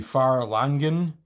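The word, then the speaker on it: Fharlanghn: largan and i realize there are a couple of different ways to send say this name we just said for largon i know it could be far longer and a couple other pronunciations but ferlargan is what we've used and that's what i'm used to here's the god of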